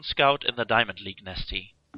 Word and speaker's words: NaahsTea: NaahsTea, how are you?